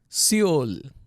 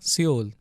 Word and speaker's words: Seoul: So you don't pronounce it. And then under, u, il, ul, Seoul, the capital of South Korea, Seoul.